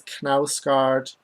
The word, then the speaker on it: Knausgaard: Apparently it is Knausgaard. Apparently we used to pronounce the K at the beginning of things like Kno, but we stopped.